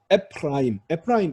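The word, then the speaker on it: אפרים: 앞에 모음이 자, 세골입니다. 세골은 파타우, 세골, 히렉 중에 하나인 단모음이죠. 그러면 얘는 소리가 안 나는 묵음 쉐바가 됩니다. 단모음이면 묵음 쉐바. 에프라임 이게 바로 에프라임입니다. 에프라임.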